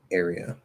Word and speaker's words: area: i teach it um so air is just it's air it's not it's not a year like a plus or it's a plus it's r colored so just like in uh set right a but air air so it would be airy airy area area so um i guess